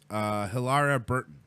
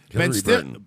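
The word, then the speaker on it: Hilarie Burton: Ben Affleck apologizes for groping actress Hilaria Burton. Hillary Burton. Hillary? Hillary Burton.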